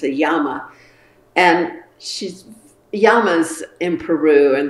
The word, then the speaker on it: llamas: a yama and she's yama's in peru and they're pronounced yamas instead of llamas if you're speaking spanish and they have an